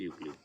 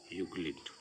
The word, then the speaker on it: Euclid: ये ठीक है, स्पेलिंग है इसकी EUCLID। ठीक, यूक्लिड।